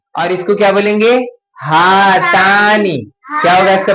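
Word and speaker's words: هاتان: हातानी, क्या होगा इसका प्रोनाउंसिएशन? हातानी।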